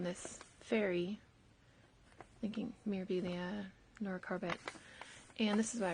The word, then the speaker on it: Corbett: Yes, I did find out how to pronounce Nora's name, and it is Nora Corbett. Although it is a French name, so I got that part right. So I have to retrain myself to say Corbett.